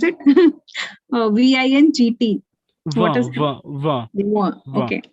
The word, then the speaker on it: vingt: VINGT. What is okay. We don't pronounce T. We pronounce still V.